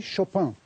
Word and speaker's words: Chopin: today's showhand please shalhan you know we say chopin the french way in poland they say chopin